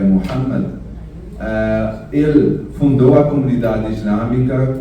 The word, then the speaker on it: Muhammad: profeta Muhammad, né, que também aqui usam a pronúncia como Mohamed, mas a pronúncia correta é Muhammad.